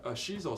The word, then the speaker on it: shiso: With the salmon, That's a Shisu salmon I had. Yep, Yeah. yep. That's a shiso salmon. It's more Japanese because He says it shiso- better than me. I say it wrong.